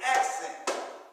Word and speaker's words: accent: Like I just said the word accent. So the accent is on the first syllable.